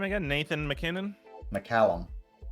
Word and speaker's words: McCallum: McCallum. Can we spell it for A Mac or Mick? MC. Mick.